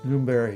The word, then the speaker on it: Lumberg: So his name was Lumberg, pronounced Lumberry in English.